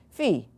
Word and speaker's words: Phi: what you're looking at this letter is P naught Phi that's the English people pronouncing fee like fit all right I don't